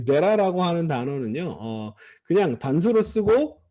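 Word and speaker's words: זרע: 왜 파타흐가 됐느냐 하면은 후음의 영향으로 아인이 아모음을 선호하기 때문에 제레가 아니라 제라 이런 식으로 발음이 되는 겁니다. 액센트는 앞에 있습니다.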